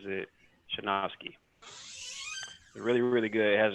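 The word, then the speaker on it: Sejnowski: deep learning revolution nice and it's by terrance pronounces it shanoski really really good it has a lot of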